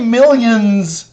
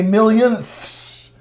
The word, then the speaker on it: millionths: So don't say millions, say millionths, thousandths, thousandths, tenths.